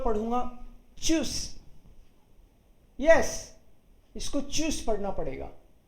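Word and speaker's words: Tschüss: इसलिए पढ़ रहे हैं क्योंकि TSCH को तो चे पढ़ते हैं और स्पेशल कलेक्ट जो ये वाला था इसको यू पढ़ते हैं। ठीक है, तो ये हो गया चूस, करेक्ट। साइलेंट कर देता हूं राकेश, आपको एक बार आप एक बार सुनिएगा। सो TSCH खुद TSCH मिलके तो चे बना था और फिर यू को यू ही पढ़ते हैं, तो ये हो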